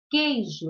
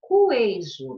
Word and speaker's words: queijo: Então, aqui eu tenho um dígrafo, é o QU, porque eu falo queijo, eu não pronuncio o U. Senão, ficaria cuejo.